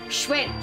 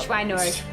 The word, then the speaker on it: Schweinorg: Schweinorg. That's how they pronounce it in the dub. Schweinorg.